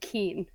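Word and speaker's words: qin: that was fun Oh the instruments called a keen I'm sorry I want to fix that before someone yells at us the set the seven-string keen that's how you pronounce it that thing looks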